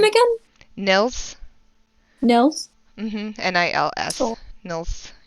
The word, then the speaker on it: Nils: People mispronounce it all the time, and they call him Nails. or or Niles.